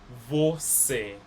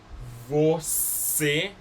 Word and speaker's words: você: Acento cicaflístico makes it more like a closed vowel sound.